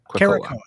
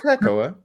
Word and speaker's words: Krakoa: So Krakoa? Caracoa. Caracoa. No, it's Krakoa.